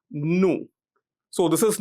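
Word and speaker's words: ν: It's denoted using a letter of the Greek alphabet which is pronounced as new.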